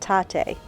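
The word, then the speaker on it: Tatte: We stopped at Tate. I didn't know how to say it, but on the cup it says like latte.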